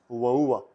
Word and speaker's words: ua: The word we are learning today is rainy, which is ua. Before that, ua, which is spelled U-A, means rain.